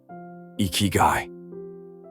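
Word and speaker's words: ikigai: Iguai, pronounced Ikyu, translation.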